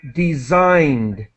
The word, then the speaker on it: designed: i sound spinal spinal and designed designed another I sound uh V vital vital